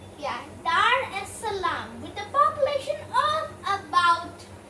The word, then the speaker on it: Dar es Salaam: the most populated city in this country is dar es salaam if i'm pronouncing that correctly yeah dar es salaam with a population of about four and a